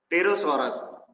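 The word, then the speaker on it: Pterosaurs: टेरोसॉरस, टेरोसॉरस में P silent है, ध्यान रखना।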